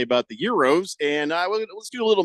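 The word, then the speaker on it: gyro: a man from Greece is pronounced the way I mentioned it with no hacking call them if you like it's Euro oh no we all agree it's Euro but I'll give out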